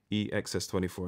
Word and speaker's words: EXS24: So the EXS, always say this wrong, EXS24, I did say it right actually.